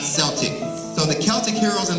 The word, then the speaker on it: Celtic: We're talking about the Celtic heroes, and yes, that's pronounced Celtic and not Celtic.